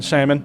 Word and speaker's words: salmon: You might as well go ahead and pronounce the L in salmon.